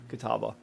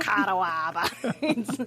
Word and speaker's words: Catawba: Oh, it is Kataba. All right. Good job, Stan. Stan knows how to pronounce stuff. Oh, this pronunciation has 35 uh karma. So, everybody hated this one. Oh. There we go. Not kawaba.